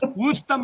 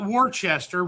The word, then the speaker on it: Worcester: It's Wora. Woram mass, not Warchester, which everybody we like to call it that down here because it pisses everybody off up in Boston.